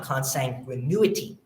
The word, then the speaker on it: consanguinity: Yet the intestacy statute lists a long and deep line of consanguinity. Did I pronounce that right?